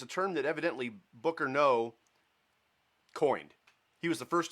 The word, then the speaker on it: Noe: But it's pronounced No.